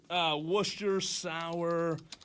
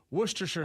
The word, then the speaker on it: Worcestershire: How do you spell the Worcestershire sauce? I just butchered it. Okay, it's Worcestershire.